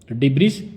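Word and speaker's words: debt: डिबिस littered the beach मलबे के कारण बीच पर कचरा फैल गया। आज का सेकंड वर्ड है डे। इसमें बी साइलेंट है।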